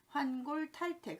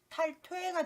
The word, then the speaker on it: 환골탈태: 환골탈태. 그런데 왠지 탈태라는 발음이 환골탈퇴가 돼서 환골탈퇴 이렇게 하는데요.